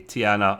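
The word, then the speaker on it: T'Ana: love them equally um the doctor's name is tiana by the way t apostrophe a n a tiana ah yeah much better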